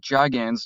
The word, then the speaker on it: Gigan: Yeah, it's officially Gigan, actually, if we're going from the novel.